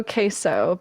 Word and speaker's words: Queso: So we got Queso, I think is the Queso, pronunciation.